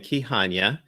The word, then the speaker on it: Kihanya: having me on Celeste my name is key Hanyu and I'm the founder and host of founders